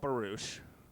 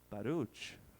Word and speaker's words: Baruch: with Netto so much I grew up being called barouche no one can pronounce my name in college I changed it to Baro but Netto said my name the way you're supposed to say it he would be like Baruch hi and when he